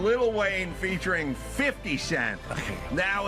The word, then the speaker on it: Lil Wayne: So, Don, you keep saying little when you should be saying Lil Wayne. Lil Wayne. And Lil Wayne. Featuring 50. Featuring 50 Cent. There you go. So you were saying Lil Wayne featuring 50 Cent.